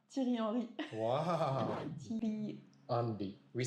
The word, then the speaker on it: Thierry Henry: We say Thierry Andy. 難しい. The 日本人も French are the most difficult maybe. Do you think? For Japanese? Yes. It's hard to pronounce R the most.